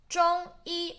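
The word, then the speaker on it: 中医: 中医, both flat tone.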